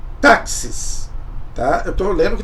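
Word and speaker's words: τάξις: não vou falar nossa que palavra difícil se pronuncia em grego táxis tá eu tô lendo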